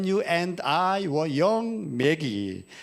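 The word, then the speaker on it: Maggie: 원 제목은 When You and I Were Young 매기. 마와 매자의 중간 발음 우리가 들립니다만은 당신과 내가 어렸을 때 이런 올드 팝송입니다.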